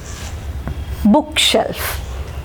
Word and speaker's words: bookshelf: അപ്പോൾ ആദ്യത്തെ ഈ 3 വേർഡ്സിനെ സംബന്ധിച്ചിടത്തോളം ഇവ 3 കോമ്പൗണ്ട് വേർഡ്സ് ആണെങ്കിലും we will mark stress on the first syllable. Blacksmith, football, bookshelf.